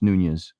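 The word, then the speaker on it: Nunes: are new Nunez Nunez I think it's pronounced Nunez I've heard it enough he's he nailed these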